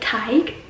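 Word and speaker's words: Tadhg: And another thing I love about Irish like culture and stuff is the names and how they look one way, but you pronounce it a totally different way. Like Tig is spelled like this, and Aoife is spelled like this.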